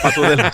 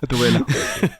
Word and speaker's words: Gatubela: No sé ni cómo se pronuncia. Sí. Gatudela. Gatudela, exacto. Bueno. No, Gatubela.